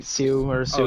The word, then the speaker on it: Sioux: I'm sorry if I mispronounced that. I think it's Sioux, like Sioux or Oh, Sioux.